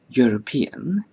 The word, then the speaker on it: European: For example, when we say a European, the EU of European is pronounced as YU, as in U.